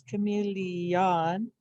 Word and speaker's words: chameleon: the the sound changes so we can think to spell comey lee on and actually say li on but we know that when we say it we kind of comes out as chameleon and what's happening is you're sliding between the e and the o you kind of get the sound in there and that's okay can